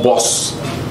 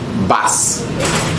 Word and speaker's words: bus: Prenons le mot bus. Ce mot-là, vous le prononcez certainement comme boss. On ne dit pas boss. Il se prononce bass.